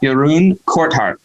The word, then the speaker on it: Jeroen Corthout: test me on it um his name is yaroon courthouse courthouse um go for it say yeah say